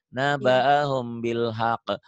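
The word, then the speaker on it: نبأهم بالحق: Naba'ahum, humnya jadi ada bindeng. Naba'ahum gitu, ikhfa ya. Bunyi M tapi bindeng.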